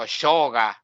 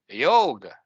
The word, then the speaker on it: yoga: in Argentina why is like a state so shoga yoga yo the real pronunciation is like this yoga yoga process but at least pronounce yoga yes